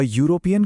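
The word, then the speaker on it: European: जैसे अ यूरोपियन country क्योंकि यूरोपियन में य की आवाज है।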